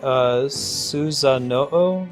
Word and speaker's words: Susanoo: Is it, should I be pronouncing that, Susanoo? Is that right? Yeah, the legendary swordsman who fought Orochi. Exactly, Sornas. Hey, thanks, game. It's Susanuo? Uo, not Oo.